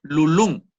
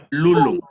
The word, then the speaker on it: lulum: Hay muchos que escuché también cuando pronunciaron lulun. Bueno, también puede pasar. pero lo correcto es lulum, al ser una palabra grave.